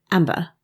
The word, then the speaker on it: Amber: How are you pronouncing my name these days? Amba. There's no R on the end.